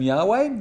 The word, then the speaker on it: Yahweh: Now, there are some people who would use the term Yahweh. We actually don't know how to pronounce Yahweh.